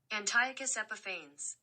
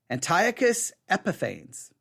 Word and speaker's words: Antiochus Epiphanes: been saying it wrong Antiochus epiphany okay Antiochus Antiochus they say it the last part different Antiochus epiphane epiphanes Antiochus epiphanes wow Antiochus epiphanes Antiochus epiphanes